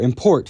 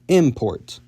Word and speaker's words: import: Sometimes, when English wants to convert a two-syllable verb into a noun, it will move the stress from the second syllable to the first, such as with insult versus insult, or import versus import. Tibetan has the opposite, however,